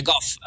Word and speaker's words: Gauff: Gauff ba pag-pronounce nun? Yeah, Goff.